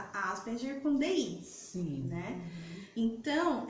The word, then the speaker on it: Asperger: E ele pronuncia Asperger, que é a pronúncia do alemã, né? É alemã a pronúncia.